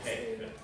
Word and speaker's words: haec: Forsan et haec, che si legge hec, olim meminisse iuvabit.